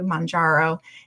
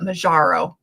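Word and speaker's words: Mounjaro: um then of course she switched over to Mangaro and listen Lisa I said it right. Maro anyhow because I used to call it Majaro but anyhow um and then I ended up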